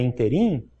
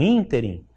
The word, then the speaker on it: ínterim: Então, se você pensa que a palavra é interim e não ínterim, aí tem que fazer um estudo de quê?